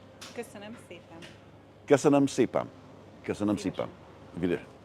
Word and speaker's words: Köszönöm szépen: Köszönöm szépen. Köszönöm szépen.